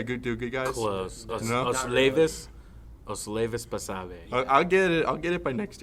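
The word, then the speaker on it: Osleivis Basabe: and that one guy that I still can't pronounce his name, Oslavi Basabe. Did I do good, guys? Close. No? Oslevis Basabe.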